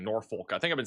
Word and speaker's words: Norfolk: There's an L right there. Like, does the L just disappear? So when people say it, this letter just goes away. You just said it. I did. Norfolk. I Bro, I've been saying that for a while. I'm still getting told nope by my team. So I I silent L, bro.